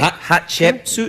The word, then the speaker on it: Hatshepsut: Lost queen of Egypt, Hatshepsut. Can you say it? Hatshepsut? Yeah, that's good. Hatshepsut. Yeah, because most people can't pronounce it.